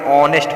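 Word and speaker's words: honest: इसको ओ पढ़ते यानी ऑनेस्ट पढ़ते हो, यानी एच को हम साइलेंट कर देते हैं, इसलिए हम यहाँ पे एन लगाते हैं।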